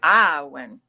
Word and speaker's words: Awen: because you're in yeah in Welsh you just spell it a Wen but you say aen aen well and Welsh is